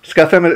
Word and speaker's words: Scufham: Am I pronouncing your name right? Or Scufham? Scufham, is that right?